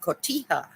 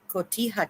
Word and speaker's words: Cotija: we have in um Mexican cooking we have Cotija Cotija cheese it's spelled c-o-t-i-j-a Cotija and it's uh again it's like a